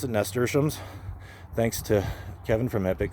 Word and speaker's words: nasturtium: I learned how to pronounce it, nasturtiums, thanks to Kevin from Epic Gardening, to learn how to pronounce that, nasturtium.